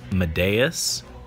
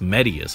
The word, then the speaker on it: Medeus: come on medius i kept thinking it was pronounced madeas uh but it's medius apparently according to his voice lines and so i have to have to bear that in mind that it's he's pronounced medius ah no no colorless